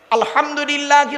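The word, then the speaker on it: الحمد لله: আলহামদুলিল্লাহি রাব্বিল আলামিন। আলহামদু, হাই উঠি, হাই হাব্বাজ নয়। আলহামদুলিল্লাহি রাব্বিল আলামিন। আলহামদুলিল্লাহ, গলার ভেতর থেকে হে এটা উচ্চারণ করবেন দয়া করে।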